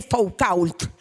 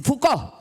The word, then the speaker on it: Foucault: conocen, es ese tipo que se escribe Foucault, pero no queda bien si decimos así, Foucault.